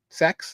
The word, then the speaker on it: CEX: You can also pronounce it sex if you want.